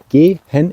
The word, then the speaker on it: gehen: let me spell that out here for you g hen is spelled g e so the English e I'm